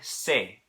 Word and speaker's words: se: Okay, the word se in Spanish, it's spelled S-E, okay? This is not pronounced the same word as the same way as the English word say, S-A-Y, okay?